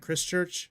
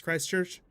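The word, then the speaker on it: Christchurch: It's not Chris Church. It's Christ Church.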